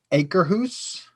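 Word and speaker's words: Akershus: I believe it's pronounced acre hoose.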